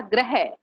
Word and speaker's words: ग्रह: देखो अब एक शब्द है ग्रह, इसका उच्चारण पता कैसे होगा? इसका उच्चारण होगा ग्रह। ग्रह कौन सा ग्रह? वो जैसे 9 ग्रह होते हैं ना, तारे नक्षत्र ये। और इसका उच्चारण कैसे होगा मुझे करके बताओ। इस वाले शब्द का इसका उच्चारण करो, ये कैसे होगा? ग्रह। हाँ ग्रह। ग्रह तो ये है, गृह। गृह है ना।